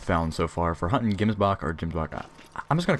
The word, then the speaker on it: gemsbok: so far for hunting gemsbok or jimbacca I'm just gonna call him Gibbs mark I'm pretty sure everyone in my last video said that Gimmes buck is the proper way to say it so I'm just gonna